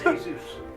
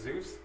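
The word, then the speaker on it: Heyzeus: his last name is Zeus No no no like Jesus his name is Jesus it's spelled h e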